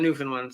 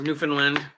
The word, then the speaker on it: Newfoundland: He's in Newfoundland, so. Or Newfoundland. Newfoundland.